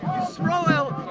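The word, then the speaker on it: Yisroel: My name is, with God's help, Rabbi Yisrael David Weiss. That's Y-I-S-R-O-E-L. David is D-O-V-I-D. Weiss is W-E-I-S-S. Yisrael is the Hebrew pronunciation of Israel.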